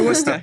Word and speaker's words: Worcester: graduating School in the province yeah so yeah Worcester yeah exactly that's how you say it I